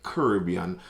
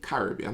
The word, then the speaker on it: Caribbean: I remember in a few videos back, someone was very stern at my pronunciation of Caribbean, saying that it's supposed to be Caribbean, and fair enough, I'll take that criticism.